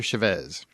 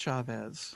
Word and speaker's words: Chavez: I've always heard it pronounced Chavez. Huh? I've always heard it pronounced Chavez. There's like three ways you can do it, and it depends on which brand of Hispanic you are.